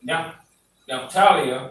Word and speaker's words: Naphtali: Is that a tha or a ta? It's a tha. Okay, Naphtaliya. That's how you say it in the Hebrew.